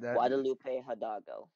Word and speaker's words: Guadalupe Hidalgo: not yeah don't speak any Spanish it's called Guadalupe Hidalgo that's my bet Guadalupe hudago you said it right yes oh I feel